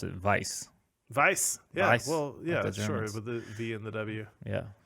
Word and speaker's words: Weiser: i don't see it that way because i pronounce it vice verse yes well yeah yeah not that i'm really